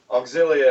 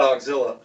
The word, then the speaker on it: Auxilia: a shirt that says uh auxilia and has the pronunciation not auxilla yeah we'll have to send